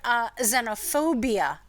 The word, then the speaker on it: xenophobia: And also the word xenophobia is spelled wrong, partially because the sound is Z in the beginning of the word, but we spell it with an X, and then it's got